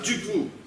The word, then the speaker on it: Dufour: Et surtout pas Dufour. C'est Et ce qu'on du vient four. de dire. Dufour sans dû. Ça donne four.